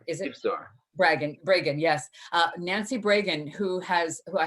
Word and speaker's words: Bragan: Am I pronouncing her last name correctly? It is Bragan. Is it? Bragan, yes.